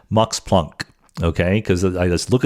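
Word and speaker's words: Max Planck: cannot help but say Mox Plunk, okay? Because I just look at the word plunk and I know that it would not be pronounced plank by a real German speaker or Mox Plunk himself.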